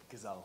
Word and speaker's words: Gazelle: Gazelle, like the animal.